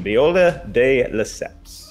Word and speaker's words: Viola de Lesseps: I'll give you that name pronunciation, Viola de Lesseps. I think you said it wrong both times.